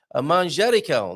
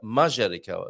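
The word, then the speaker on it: manjericão: Manjerical, not majerical, as you saw in this picture.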